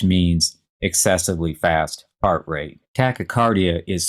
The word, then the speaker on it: tachycardia: called tachycardia which means excessively fast heart rate tachycardia is spelled t-a-c-h-y c-a-r-d-i-a and the other prefix i